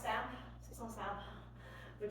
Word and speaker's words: simple: Technically it's pronounced samp, C-zone samp, which sounds funny, so I say English C-zone simple.